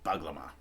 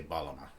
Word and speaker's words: bağlama: ah it's you know it looks like it's called bug lemma but it's got a funky G in there this Turkish GI I don't even know how to pronounce it right most I think people cannot pronounce if they don't speak Turkish or have difficulty pronouncing it so you can just forget about that G and just say Paloma it's the closest you'll get to it that's one thing I